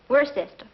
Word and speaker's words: Worcester: something else too dark but it's spelled w-o-i-c-e-s-t-e-r we're a sister oh it's he is